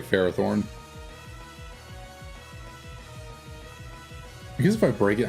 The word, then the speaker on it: Ferrothorn: really don't matter Farah Thorn like you're supposed to extend the a Farah Thorn not you're not supposed to I mean I just say Ferrothorn guess if I break